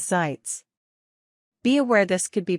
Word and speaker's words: Sitz: someone to sit though the quickest way to do that is to say sits pronounced as sites be aware this could